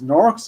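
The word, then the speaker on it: Gnorc: nors nors and nasties norx is spelled g n o r c as a gnome plus orc very bad is that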